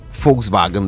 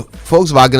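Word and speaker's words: Volkswagen: right so you see because of the pronunciation in in German the V is actually F so so they call the the folks vagen they call it fou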